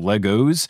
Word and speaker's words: Lego: like a cop so i'm gonna say legos does that mean we need to restart the episode over and properly pronounce lego only if the six